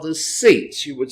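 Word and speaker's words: tzitz: It's called the seats. You would spell that in the English, T-Z-I-T-Z, the seats.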